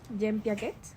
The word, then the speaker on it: Jean Piaget: Y estudios de John Piaget, creo que así se pronuncia. Jean Piaget, también destacan cómo el